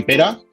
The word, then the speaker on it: Pere: Pues yo soy Pera, se escribe Pere, pero se pronuncia Pera.